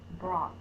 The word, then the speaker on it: brought: separate boxes b r o u g h brought that's also a running word because the vowel